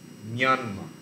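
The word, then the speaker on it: မြန်မာ: যাই হোক, বাহিনীরা র উচ্চারণ করতে পারে না, র এর জায়গায় ইয় উচ্চারণ করে। তো ম্রনমা যেটা লিখছে, ম্রনমার অ্যাকচুয়াল বার্মিজ প্রোনাউন্সিয়েশন হয় মিয়ানমা। মিয়ানমা ইয় উচ্চারণ হয়, মিয়ানমার থেকে ইংরাজিতে এই জন্য মিয়ানমার থেকে স্পেলিংটা লেখে MY দিয়ে।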